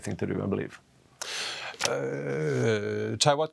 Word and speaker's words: Chaiwat: Chaiwat Kovavisarach, do I pronounce it right? Kovavisarach? Chaiwat's good, yeah.